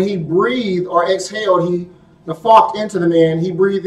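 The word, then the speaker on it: naphach: So when you look in Genesis, Bereshit 2:7 it said, when he breathed or exhaled, the Hebrew word for that is nafak. Nafak is spelled N-A-P-H-A-C-H. N-A-P-H-A-C-H. Nafak.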